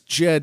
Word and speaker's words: Djed: And the translation of the hieroglyph is Djed, which is Djed. It's just like dead.